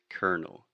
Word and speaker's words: Colonel: Yeah, but the way we pronounce it is Colonel.